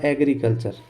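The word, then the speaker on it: agriculture: टी यू आर ई तो यहां पर देखो एग्री यानी यहां पर जो जी आया इसका उच्चारण मैंने क्या किया ग किया क्यों किया क्योंकि ए जी आर आई इसके सामने आर आया है अगर यहां पर आई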